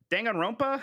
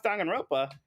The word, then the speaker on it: Danganronpa: marinette says uh danganronp danganronpa is how you say that dagger and advanced wars